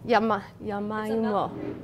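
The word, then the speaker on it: 山芋: Yamaimo.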